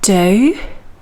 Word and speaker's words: dough: going to bake and that's do which sounds like go with the same spelling